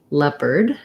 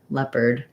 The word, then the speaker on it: leopard: say the er sound and so it sounds like lep the same um vowel that you would hear in the in the word letter or lead and then lep erd we just have a tight back american r sound so i'll rewrite that with an er leopard leopard um so i don't know why that's spelled that way it doesn't have any kind of o sound it doesn't have any